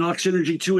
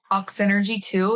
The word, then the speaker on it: Oxynergy: I land in New York there'll be an Ox Energy 2 in New York or Chicago or Miami.